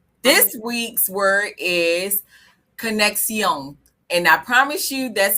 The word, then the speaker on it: conexión: This week's word is conexión. And I promise you that's how she pronounced it on Google.